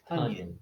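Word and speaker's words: Tonyan: Devontae Parker and Robert Tunyon. We were saying it wrong this whole time. Like bunions and funyuns.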